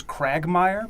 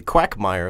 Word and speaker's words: quagmire: pronounced that right Nick I thought it was cragmire because it's like a crab on of a bit rocky maybe quagmire like like a duck because I thought at